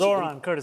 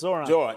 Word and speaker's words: Zohran: And so it's Zohran. Zohran.